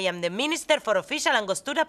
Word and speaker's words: Angostura: gold citizens can't pronounce Angostura, the key and vital ingredient in the world's most delicious drink. Listen up. Hello? Angostura. Roll your R's. R. Feels very nice on the tongue, no?